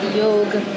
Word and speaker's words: yog: And then we have also this path also that came from this, which was yoga. And yog really being the way that we pronounce it, yog sounds like yoke, Y-O-K-E, meaning unity and union.